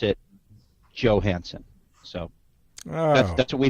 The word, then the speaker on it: Johansson: the Americanized version uh but it can be pronounced with the Y like Johansson but most Americans ped pronounce it Johansson so that's that's what